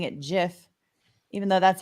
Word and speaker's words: GIF: um I'm also getting hate from people by pronouncing it Jif even though that's how the creator of the